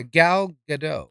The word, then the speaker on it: Gal Gadot: is it gal I say you say yeah gal gadot all right so I wonder if she was